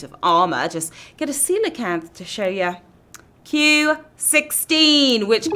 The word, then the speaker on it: coelacanth: Monkfish, caiman, coelacanth. Yeah, that's how you pronounce it, guys.